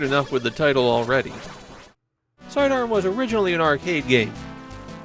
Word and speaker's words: Side Arm: Officially, per Capcom, the title of this game is Sidearm. Yes, the logo spells it Sidearms, but Capcom explicitly says that is incorrect. The Hue card is actually the first time that they've spelled the game's title phonetically, so before this, even Japanese players were calling it Sidearms.